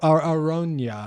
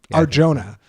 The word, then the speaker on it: Arjona: uh Madison play audrea Arona I think is how you say is it really Arjona that's that's that that's the pronunciation Arjona Audrey arjah Aron I